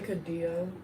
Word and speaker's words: Cadillo: Taryn, how do you say his last name? Who? Cayenne what? Kai Cadillo. Cadillo? Yeah. Thank you.